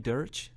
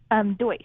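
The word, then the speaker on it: Deutch: Is that how you pronounce her last name, Dersch? Deutsch. Deutsch.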